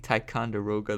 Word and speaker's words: Ticonderoga: There's like a correct way to say this. Ticonderoga. Yeah, I think Ticonderoga. That's the right pronunciation before I was saying something else.